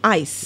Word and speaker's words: Hyce: changing the spelling okay different spelling and the same pronunciation ice okay it's ice so it's not he